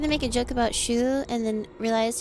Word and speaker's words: Shu: We're going to make a joke about Shu and then realize his name is one syllable and you'll see yourself out now.